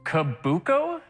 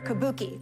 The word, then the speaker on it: kabuki: of Japanese theater Matt kabuko incorrect Matthew gisha incorrect sir Carrie Kabuki Kabuki Kabuki that's the pronunciation that we were looking for Carrie you are in